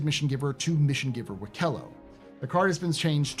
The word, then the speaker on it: Wikelo: By the way, it's pronounced Wikelo. Not Wikelo, not Wikalo, it's Wikelo is how you say it, according to the guy whose missions always break.